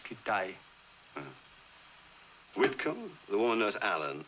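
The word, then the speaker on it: Kitaj: There's Hedgepath, Kittage. No, it's pronounced Kitay.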